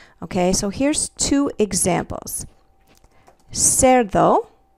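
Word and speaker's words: cerdo: so here's two examples Sero the word for pig is a soft C because it comes before the letter E the English letter e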